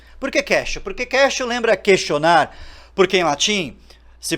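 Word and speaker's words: quaestio: bem-vindos ao podcastil porque cache porque Castle lembra questionar porque em latim se pronuncia question em latim question quer dizer pergunta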